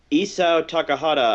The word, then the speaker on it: Isao Takahata: It's an anime by Isao Takahata, I think that's how you say his name.